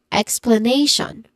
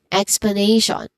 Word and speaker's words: explanation: t i o n remember t io n is commonly pronounced or mostly pronounced as shan again shan. So this is explanation again explanation. So that is for this one explanation. Nay is the stressed syllable here.